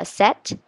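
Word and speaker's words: sept: it's spelled cept what the pee but it's pronounced set nopee in fact um 88 wait um I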